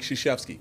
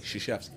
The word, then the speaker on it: Krzyzewski: Tom Izzo's personal kryptonite is Mike Krzyzewski, which, by the way, is spelled Krzywzewski. Krzyzewski.